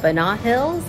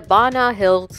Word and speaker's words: Ba Na Hills: Turns out it's pronounced as Banat Hills and not Banat Hills or Banat Hills. It's supposed to sound like bananas because there were a